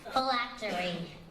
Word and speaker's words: phylactery: Phylactery. Am I pronouncing that correctly?